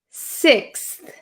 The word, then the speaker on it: sixth: just a second so I don't say six I don't I don't over exaggerate the th so be careful of